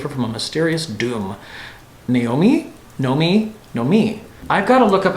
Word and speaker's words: Noemi: Noemi is how it's normally said. or Spanish, similarly, Noemi.